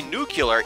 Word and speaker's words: nuclear: Actually, one of the weirdest ones I heard was that there were two accepted pronunciations for nuclear. I didn't realize that I always said nuclear. I always thought that's how you're supposed to say it. But apparently nuclear is an accepted pronunciation for that word, which I never understood.